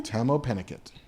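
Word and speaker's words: Tahmoh Penikett: That's how you pronounce that dude's name? Tamo Pennicott.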